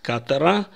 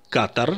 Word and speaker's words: Катар: Катара в Турцию слово Катар Я произношу с ударением на Первом слоге я написал букву алиф После буквы куф при этом в израильских СМИ чаще или как правило произносят Катар Это неправильно в плане названия страны